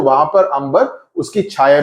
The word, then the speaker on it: Amber: Amber is a way, I think इसको pronounce करेंगे, amber will be too anglicized, बड़ी अंग्रेज वाली हो जाएगी, तो अंबर बोलेंगे.